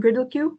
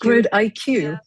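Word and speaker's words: GridIQ: to the presentation today, and that is Team GriddleQ. I hope I pronounced that correctly.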